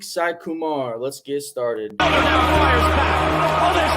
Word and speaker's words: Saikumar: Saikumar. Saikumar.